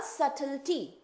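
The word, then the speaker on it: subtlety: भी नहीं होता है सल वर्ड में बी आपका बिल्कुल प्रोनाउंस नहीं होता है तो बी तो आपका रहेगा बट उसको हम हम लोग प्रोनाउंस नहीं करते हैं।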